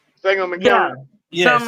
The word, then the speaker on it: Sangamon: It's not Sagamore. Sangamon Yeah, County.